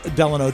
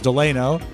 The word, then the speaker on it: Delano: send those were two that they send specific pronouncers for I would have said de Delano too but it's deleno and it's Hal Eva it's Hal Eva I